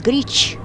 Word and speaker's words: Grič: By the way, the right pronunciation of the tunnel is Grič.